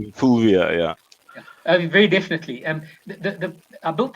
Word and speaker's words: Fulvia: I need to pronounce this right. Fulvia. Fulvia, yeah.